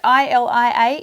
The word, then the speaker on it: Ilia: So is that how I pronounce it? I-L-I-A, Ilia.